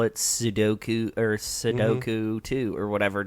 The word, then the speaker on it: sudoku: Queenie says she has plenty of time in prison to do a lot of sudok sudo s u du ko. The number puzzle game is called sudoku.